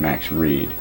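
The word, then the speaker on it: Max Read: And I also, because Max Reed, I think it's Max R-E-A-D, I'm pretty sure. Well, no, I know that. I think he pronounced it Max Reed.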